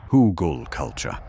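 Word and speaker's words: Hügelkultur: Now, Hugelkultur, pronounced Hugelkultur, is a German method that basically involves burying organic trash in a hole.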